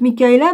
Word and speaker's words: Michaela: Ah, on la prononce Michaela ou on dit non, Michaela.